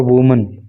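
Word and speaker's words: women: प्रेम प्रसंग थे उसके विद फोर वूमन चार महिलाओं के साथ। ये वुमेन पढ़ेंगे इसको वूमन नहीं कहेंगे।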